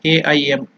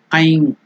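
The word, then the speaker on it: ऐं: in some other countries, they pronounce it as, because they write it as A-I-M. That's why I have typed it as I-M. So it is Aim. Just like Nai, it is Aikara. Aim or Aing. In the nasal Aing or Aim. If it is separately chanted, then it is to be completely pronounced as Aim.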